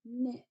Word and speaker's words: knit: makes the n Sound the K is silent we don't hear it okay so KNN can come at the beginning like in the word and knit knit okay and now we